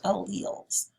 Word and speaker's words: alleles: the chain is called alleles that word is pronounced alleles so different versions of a gene if we